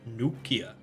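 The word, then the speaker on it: Neukhia: gulp beat the new Kia new Kia it's pronounced new Kia opportunity commands are forbidden okay alright we do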